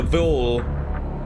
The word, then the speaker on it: viol: The viol rhymes with mile.